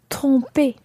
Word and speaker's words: se tromper: Now, your mouth should be really far forward when you say tromper. Tromper.